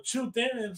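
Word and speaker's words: 朱德: O sea, del octavo ejército de ruta que lideraba Zhu De o Chu Te, según mandarino, el chino mandarino, otra pronunciación. Yo lo pronuncio más como Zhu De, que es porque se escribe así en castellano, pero bueno.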